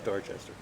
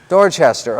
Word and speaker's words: Dorchester: up there do you no that's dorchester dorchester oh it is three sybils that one is three syllables okay and it was